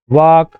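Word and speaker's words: walk: एल में देखिए तो काम, टाक, वॉक, हाफ, कहीं भी एल का उच्चारण किया जा रहा है क्या, नहीं, क्योंकि ये साइलेंट है।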